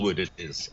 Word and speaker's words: Allwood: Oh, yeah, Oh, Allwood it is. Allwood, yes. Allwood. Oh yes, I must remember my pronunciations.